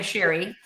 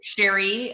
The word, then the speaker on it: Cheri: And by the way, it's it's pronounced the French way, Sherry. So, Sherry uh yeah, my parents